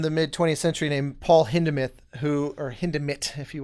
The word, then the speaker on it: Hindemith: spelled like hindemith and it's really hard as an american to not want to pronounce the th but it's hinderment and he uh very